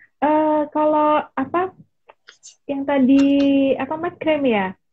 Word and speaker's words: makrame: Kalau apa yang tadi apa makrame ya? Gimana sih bacanya? Makrame gitu kan? Makrame. Tulisannya makrame. Tulisannya makrame, Bu, aku kurang ngerti yang bener ya. Iya, lidah Jawa Cikgu ya kita ya. Dibaca kabeh hurufnya.